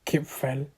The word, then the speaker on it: Kipfel: Austrian pastry the Austrian pastries called keep fell or that's what I'm going to pronounce it and how to pronounce it by spelling like Kip Fel and um according to